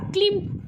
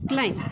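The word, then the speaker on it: climb: क्लाई काय आहे बघा क्लाई बऱ्यापैकी तुम्ही काय म्हणता माहिती का ला क्लिम काय म्हणता क्लि पण जे काही प्रोनन्सिएशन आहे ते काय आहे बघा क्लाई काय आहे बघा क्लाई यामध्ये जो काही हा बी आहे हा काय आहे बघा सायलेंट काय आहे बघा सायलेंट लक्षात आलं का क्लीम नाही काय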